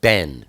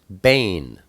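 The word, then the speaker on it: בן: for sun is uh it looks like Ben B en in English but it's pronounced Bane and uh you'll see two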